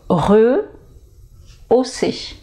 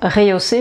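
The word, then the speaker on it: rehausser: quelque chose voilà et la bonne prononciation s'est re aussi voilà donc là il n'ya pas d'accent aiguë c'est juste eu norman donc il n'y a pas de raison de prononcer le son est au début donc pas réhaussé mais re aussi alors là ça c'est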